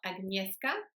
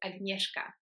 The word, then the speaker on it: Agnieszka: The first one is the SZ letter combination, which in Polish is actually pronounced like the English sound for SH. So think about the sound in the word shoe or shop. So the SZ in Polish is sh. So my name is not Agnieszka, but it's Agnieszka.